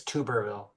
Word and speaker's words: Tuberville: I just wanted to correct you. It's Tubberville. Tuber. What did I say? Tuberville.